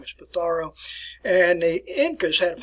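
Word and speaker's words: Pizarro: of francisco patharo that's what you want to pronounce his name is petaro and the incas had a population high in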